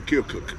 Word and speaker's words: Keokuk: Yeah, that's how you say it. I'm I worried. said, that's I'm actually worried if I'm saying it right. No, you're right. I met somebody from that area, and I said Keokuk, and they were like, "Nope." Yeah. Yeah, Keokuk.